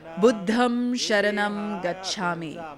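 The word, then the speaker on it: Buddhaṃ saraṇaṃ gacchāmi: They pronounce tha instead of sa and sa instead of cha, etc. Buddham Sharanam Gacchami. In Burmese, it's pronounced as Buddham Tharanam Gassami.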